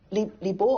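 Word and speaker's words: 李白: Li Bo or Li Bai, Li Bo was the old pronunciation, had a character that was very charismatic.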